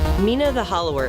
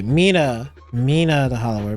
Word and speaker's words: Mina the Hollower: I don't know how you pronounce that. Hold on. Let me just hear it real quick. Mina the hollower is Ah, okay. Mina Mina the hollower.